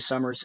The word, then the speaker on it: Somers: the major platforms Summers s o m RS I know my last name is spelled funny but it uh it's pronounced like the season but spelled s o m e RS um just go Ahad